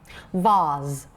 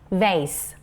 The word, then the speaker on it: vase: how about this one british english voz okay american english vase vase vas versus vas okay so uh these